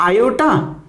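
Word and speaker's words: iota: और ये जो आयोटा, ये आई भी पढ़ सकते हैं इन शॉर्ट, वैसे इसका जनरल जो प्रोनाउंसिएशन होता है उसको हम आयोटा पढ़ते हैं।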